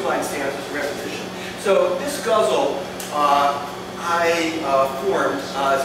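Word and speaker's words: ghazal: them together and formed a guzzle DH Lawrence guzzle it's g h a z a l that's how you say it um how many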